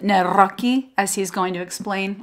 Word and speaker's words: Nawrocki: It's actually pronounced Nawrockki, as he's going to explain on the podcast.